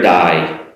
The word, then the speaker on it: dye: Um now you might be familiar with uh the word “hair dye”, to dye your hair which means to change the color of your hair. Now it's exactly the same pronunciation as “die”, you know, your life expires.